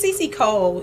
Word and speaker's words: Cece Cole: I would like to introduce Miss Cece Cole. Hi. Cece Cole is one of our two guests. And Miss Cece Cole, she is the founder and CEO of Silk and Dress, Lifestyle of the Lady CEO.